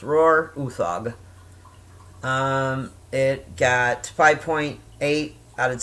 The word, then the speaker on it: Uthaug: But his name is Roar, I want to say Uthaug. I believe that's how it's pronounced. Roar Uthaug.